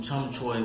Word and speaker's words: Chum Choy: that we're dealing with in cantonese is called chick-chick-chum joy that is the full pronunciation it can also be shortened down to chum choy for short basically it translates to